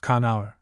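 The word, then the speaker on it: Conchobar: Connor properly spelled Conabar and pronounced Kauor king of Olter.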